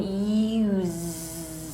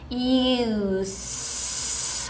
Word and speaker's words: use: 자, 동사일 때는 use, 자, z로, 자, 장모음 U1 소리 나고 z 소리로 냈어요. 자, 명사일 때는요, use 하고 소리가 달라요.